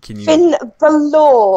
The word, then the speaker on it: Finn Balor: What's the pronunciation of Finn Balor? Finn Balor. Balor. Okay, sorry about that.